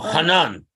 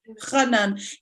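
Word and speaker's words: חנן: The dot makes it a het, Rabbi Hanan, okay. rather than, so we pronounce it the same as a chaf, but the correct pronunciation, the Sephardic pronunciation, is the 8th letter in the alphabet is het. It's a gut het. So so chaf het. So Hanan. Hanan.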